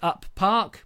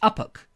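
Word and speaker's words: Uppark: I like to call it Up Park, but it's not pronounced Up Park. Is it Uppock? Uppock?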